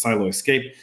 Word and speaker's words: Siloscape: He dubbed it as Siloscape, which he pronounces as Silo Escape.